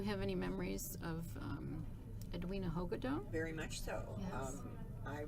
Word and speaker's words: Hagedorn: And Hagedorn and Rena, well, how do you pronounce her last name? Hogadone, yeah. Hogadone.